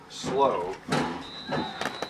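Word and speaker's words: Slouh: right will be their field goals specialist hunter slow it's spelled s-l-o-u-h hunter slow so how will start out moving left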